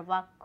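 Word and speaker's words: walk: और वाक, वाक में हमारा एल वर्ड साइलेंट है।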